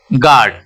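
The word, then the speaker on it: guard: you Kali okay यहां पे क्या है काली गार्ड गेस्ट गाइड तो यहां पे यू का प्रनंसीएशन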